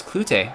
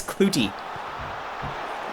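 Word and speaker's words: Klute: well that was a that was unexpected Chris clut which is hilarious actually apparently only just this year uh the MLS broadcast teams around the league discovered that Chris clut it's actually pronounced Chris clouty nobody has known this and apparently he's just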